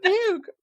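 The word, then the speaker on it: Dubuque: It's Debuke, but I like the boy better.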